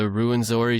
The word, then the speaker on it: Rwenzori: Well, anything else on the Ruinzori Turaco?